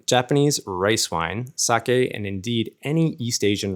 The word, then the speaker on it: sake: break it down first of all the word sake or saki as it's often mispronounced in the west is used in Japan